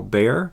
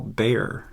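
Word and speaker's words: Bexar: this is the tactile bear it's actually spelled b-e-x-a-r and uh but it's pronounced bear it's named after the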